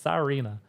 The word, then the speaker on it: Sarina: because in the transcription, it spelled her name Serena. And I was like, no, it's Sarina.